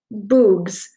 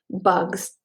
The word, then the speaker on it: bugs: "Bugs," he said. "Good. Remember, it's a short U if there's no E at the end.